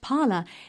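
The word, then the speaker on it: Parler: concentration of power online parlor a small but rapidly growing social network is an unlikely candidate for liberal sympathy pronounced parlor it gained popularity mainly with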